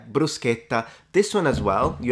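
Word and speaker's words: bruschetta: brusa um they're saying don't say brushetta of course some people say brushetta uh they didn't really take that into account but yeah brusketa this one as well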